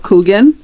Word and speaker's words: Kuchen: Um before I got here, I never heard of Kugan, but it's actually spelled like kuchen.